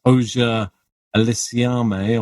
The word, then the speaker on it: Auger-Aliassime: We had Felix Auger-Aliassime, or whatever his surname. I will learn to pronounce it by the end. No, that's right. That's correct.